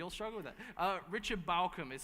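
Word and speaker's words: Bauckham: So Bart Ehrman is spelled E-H-R-M-A-N. So Craig Keener and Richard Balcom are good for the biographical side of things.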